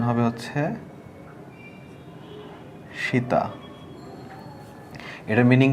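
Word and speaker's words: 下: উপরের কাঞ্জি ছিল এটা হচ্ছে নিচের কাঞ্জি এটার উচ্চারণ হবে হচ্ছে সীতা এটার মিনিং কি এটার মিনিং হচ্ছে আন্ডার আর এটার উচ্চারণটা হবে সীতা সীতা মানে হচ্ছে নিচে এরপরে 38 নাম্বারে যে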